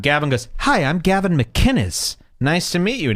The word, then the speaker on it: McInnes: The man goes out of his way to pronounce it how it's written. McKinnis. McKinnis. And all of these losers keep saying McInness. McInness. It's a totally different name.